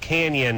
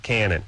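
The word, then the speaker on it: Cañon: It is pronounced Canyon, but they call it Cannon. I see. Okay, got it. It has an Enye. Yeah, it has the senior squiggle over the N, and it should be pronounced Canyon, but everyone always called it Cannon, and that's what they still do.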